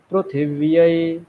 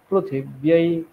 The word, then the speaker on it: পৃথিবী: ঋকার গুলো বলছেন না এই রিকার গুলোকে রু উচ্চারণ করবেন ঋ উচ্চারণ করবেন না কৃষ্ণ যজুর্বেদে রিকারকে রু উচ্চারণ করতে হবে বিষ্ণবে প্রভাতে ব্রু পৃথিবী পৃথিবী নয় পৃথিবী ঠিক আছে বুঝতে পেরেছেন